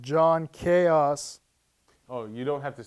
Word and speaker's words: John Chaos: his hit film blood kill so please welcome Joan choas John John it's a hey how's it going